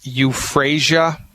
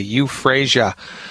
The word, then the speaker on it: euphrasia: want to find the homeopathic medicine that says euphrasia let me spell that for you e like Edward u p